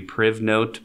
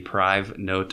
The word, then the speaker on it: PrivNote: Another neat one here is called, I guess if you pronounced it, it would be PrivNote, but it's more supposed to be PriveNote, I think, because it helps keep things private.